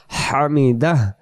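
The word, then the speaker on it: حمد: রুকু থেকে সোজা দ্বারে বলি সামি আল্লাহু লিমান হামিদাহ এটার অর্থ এটাই।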